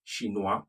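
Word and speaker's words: chinois: take another example don't be carried away with the ois okay the s is silent shinoa for the male 2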